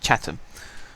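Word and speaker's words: Chatham: match today against chattam that's pronounced chattam for those of you who don't know uh and I'm going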